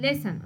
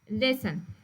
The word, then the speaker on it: listen: silence باسكو listen نقولوا listen okay listen T يكون silence لما يكون قبله ال S okay like Christmas okay like castle so دائما يكون تي silence.